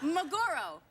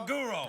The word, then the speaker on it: maguro: No, maguro. roll? Yeah, it's maguro. I know. Spell it. No, it's What's a it's maggot? tuna fish. Mago. Tuna fish. Tuna. Tuna. Magoro.